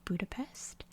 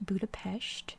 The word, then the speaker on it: Budapest: city of Budapest, and yes, I know, it's pronounced Budapest. Don't come for me in the comments. I do know this. I just try to stick to American pronunciation since I'm American, and it just makes things a lot easier in terms of like all the other countries around the world. So I know it's pronounced Budapest, but in America we say Budapest. Not sure why. It's like a Paris, Paris kind of thing, you know.